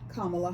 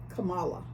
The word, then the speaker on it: Kamala: all of his followers should know the proper pronunciation of her name is Kamala Harris not Kamala even though her nieces tried to educate the